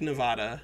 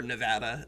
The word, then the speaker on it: Nevada: you creating this border War United States take Nevada or Nevada as the the white people from there will tell you it is pronounced all right so in order to hit